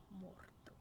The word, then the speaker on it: Mordor: Mordor. Gotta roll your R and really get in there.